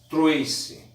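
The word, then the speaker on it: Tracy: Ideologia surge no século XIX com Destutt de Trace, alguns preferem pronunciar Troyce, que era um filósofo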